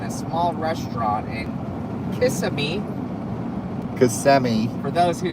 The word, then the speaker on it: Kissimmee: Kissimmee. For those who say it wrong, the Kissimmee.